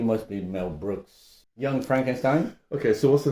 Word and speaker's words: Frankenstein: Young Frankenstein? Okay, so what's the name of the doctor? Well, Frankenstein. Frankenstein? It's pronounced Frankenstein.